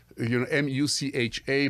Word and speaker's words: Mucha: And if I tell you the name Alphonse Mucha, maybe it doesn't ring a Mucha or Mucha, M-U-C-H-A, but you pronounce it as the Czech way, Mucha.